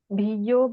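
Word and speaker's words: bhiyyo: Even the y, which sometimes is a bit difficult for English people to do. Bu. Just pronounce that again in the way you did Bu Bhavaya. Sure. Bhiyo bhavaya. You're right. You hear that distinct doubling of the Bu Bhavaya.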